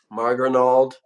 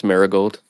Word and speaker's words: Maragold: Um, Marrenald, sorry if I mispronounced your name. That's Maragold. Maragold.